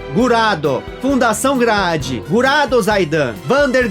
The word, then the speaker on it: Graad: série 3D como Gurad, e se aproxima mais da pronúncia japonesa, Gurado, Fundação Grad, Gurado Zaidan, Vander Grahad, Benda Gurado.